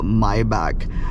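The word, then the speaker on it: Maybach: Mercedes GLS or a myb i i pronounce it as mayb because my back sounds like Anil Kapoor from the '90s okay I you know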